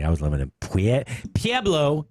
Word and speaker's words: Pueblo: was limited we had P a blow if you live in Pueblo it's not Pueblo color it's PA blow Colorado I was on p.a